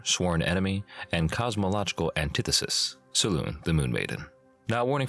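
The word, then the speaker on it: Selûne: let's Jump Right In A Saloon or Saloon as some people like to pronounce it is the Forgotten Realms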